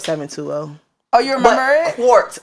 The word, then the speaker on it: Quart: oh you remember it quart like quarter cuz that's how my mother pronounces my name I don't know why